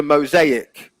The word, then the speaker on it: mosaic: what you were saying, but yeah, there's a clear separation between the syllables there.